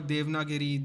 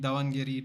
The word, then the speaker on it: Davangere: down Gary it was devnagiri davangere depends on how you want to pronounce it yeah again forces